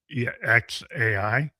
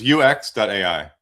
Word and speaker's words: youex.ai: And your your your company is basically it's you UXAI. Is that Is that right? How do you say this? Yeah, yeah, it's yeah, thank you. Glad to be on the show. It's youex.ai and that's spelled y o u e x.ai.